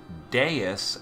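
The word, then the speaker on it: Deus: we're now going to be going back to deis as I'm told his name is pronounced with a water party so this one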